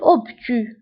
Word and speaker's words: obtus: زاوية منفرجة un angle obtus. Un angle obtus. Un angle obtus. فهنا بالنسبة للأوبتو كنكتبوها بأس في آخر الكلمة ولكن لا تنطق.